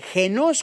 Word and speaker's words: genos: palabra 1085 y que se escribe genos con acento en la e esta palabra se traduce